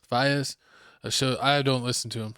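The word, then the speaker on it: Faiyaz: Brent Fayez. Fayez.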